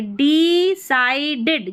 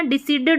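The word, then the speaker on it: decided: बट ही डिसाइड देखिए डी साइडेड जैसे मैंने बताया बड़ी स्पेलिंग है तो ब्रेक करना है पहले डी ई डी साइडेड डिसाइडेड पढ़ना डिसीडेड नहीं पढ़ना है ठीक है सी आई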